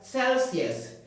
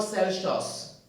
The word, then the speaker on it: Celsius: calcium and no EX or Celsius is pronounced as Celsius Celsius calcium Celsius 25° Celsius 49 45° Celsius Celsius not cous is quite important so